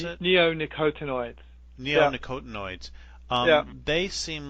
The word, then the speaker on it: neonicotinoids: The neocotinoids? Is that how you pronounce it? Neonicotinoids.